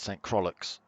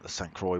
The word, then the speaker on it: St. Croix: But it's St. Croix B, not whatever you said C. St. Croix. Yeah, I do like the St. Croix ones.